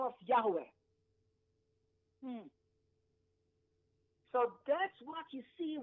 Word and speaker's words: Yahweh: Most likely the name should be pronounced as Yahweh, but it should not be pronounced as Jehovah. It's not the right pronunciation. It's wrong.